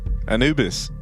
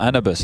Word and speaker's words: Anubis: Obviously, the one time they didn't was here to open up Anubis. Or Anubis, as it's officially pronounced. Anubis.